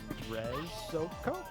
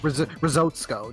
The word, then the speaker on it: Rezoko: We have $100 from Daniel Rezoko. I'm hoping I pronounced that somewhat. Risotsko, that's how you pronounce it.